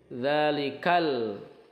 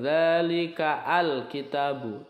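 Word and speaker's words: ذلك الكتاب: ini tidak dibaca Al tapi dalikal bukan dalika Al kitabu tetapi langsung ke lam sukunnyaal bacaannya Ini masuknya izhar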